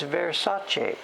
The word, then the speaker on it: Versace: Dave, it's Versace. Chi. I said Che.